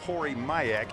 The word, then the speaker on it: Corey Mayak: I mispronounced his name. It is in fact Corey Mayak, and some nice lady